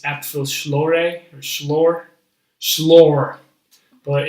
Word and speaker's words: Apfelschorle: I still don't pronounce it right. It's Apfelschorle or Schlor, but it's like apple juice soda.